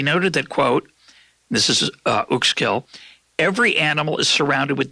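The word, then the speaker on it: Uexküll: It's Uxkull. Uxkull. Uxkull. Yeah. It's spelled Uxkull. Yeah. We'll try to find a link to something. But his last name, which is tough for Google, is UXKULL.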